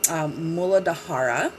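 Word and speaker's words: मूलाधार: the root chakra is also known as the mooladhara that's how it's officially pronounced they all have like their own sanskrit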